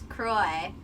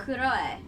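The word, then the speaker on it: Kuroe: Who is also known as Kuroi. How do you pronounce that? Kuroi.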